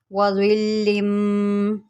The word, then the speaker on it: وَظِلٍّ: مشکل ہے، اس کو میں آپ کو تھوڑا سپیلنگ کے ساتھ سمجھاتی ہوں۔ وَظِلٍّ وَظِلٍّ ظَ لام زیر ظل۔ اب لام کے